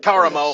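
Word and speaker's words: Karamo: It Karen ain't Caramo. Curtis. It's Caramo.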